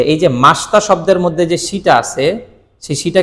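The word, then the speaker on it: ました: তার মানে আরিগাত গোজাই মাসিতা হবে না মাসতা হবে?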